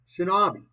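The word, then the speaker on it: 忍び: In the native kunyamai reading, it is pronounced shinobi, a shortened form of shinobi no more.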